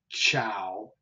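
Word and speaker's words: ciao: then of course everyone probably knows the greeting Chow Chow c i a o which is soft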